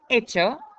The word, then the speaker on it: hecho: Hacer, hecho. Remember not to pronounce that H.